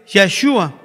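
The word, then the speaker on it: ישוע: El mismo nombre supremo de nuestro Dios, o sea que es Jesús, en su pronunciación original en hebreo es Yeshua, que se escribe no con una J, sino con una I mayúscula, o con la Y, disculpen.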